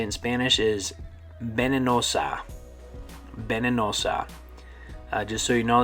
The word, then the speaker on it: venenosa: Okay, venenosa, venenosa, or venenoso. It sounds kind of like Venezuela.